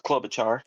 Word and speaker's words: Klobuchar: Klobuchar, but now everyone pronounces it differently. No, it's Klobuchar.